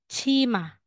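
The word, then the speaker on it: 치마: ba po e so babasahin natin yan ngayon ng ch ch tapos the next na next na tayo next um um syllable so itong consonant na ito ay letter m tapos ang vowel na ito ay a so ma tapos dugtong na natin Magiging Chima Chima o ang skirt po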